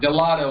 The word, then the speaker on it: Dalotto: Dalotto. Good day. How are you doing? Very good. That's Dalotto. Dalotto. I appreciate the correction on that pronunciation.